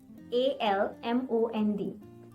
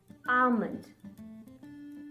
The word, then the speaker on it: almond: it almond almond right a-l-m-o-n-d but the correct way to pronounce this is drop the l sound and say it like almond almond as in ah